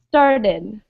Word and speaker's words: started: So one word that's pronounced with id is started.